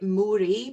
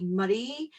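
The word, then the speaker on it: Moray: like to pronounce things wrong if you might pronounce it mori by mistake but it's actually murray in murray murray council area and it says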